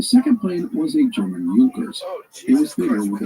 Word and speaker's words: Junkers: If you see the spelling, it looks like Junkers, Junkers, but it is pronounced Junkers.